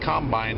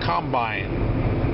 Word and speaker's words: combine: If you don't know what a combine is, you first of all have to know that the correct pronunciation is combine, not combine.